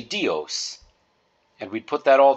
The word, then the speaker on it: Dios: Amore de and then dios is actually two syllables combined together D E and O so you've got the letter D so you would pronounce that d e and then o as in host or most so we'd say dios and we'd put that